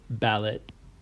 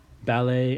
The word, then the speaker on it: ballet: these two words is why we pronounced them with this a sound at the end instead of ballot and Buffett and the reason why is that these words are actually French they come from the French language they're from France and in French they pronounce that et as a and there's other words